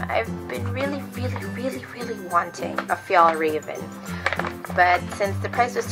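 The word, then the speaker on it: Fjällräven: But like I said, the pronunciation is Fjallraven Kanken. Because they said that this A with the circle on top of it is pronounced as an O. So Kanken. And the A that has two dots on the top is like Fjall.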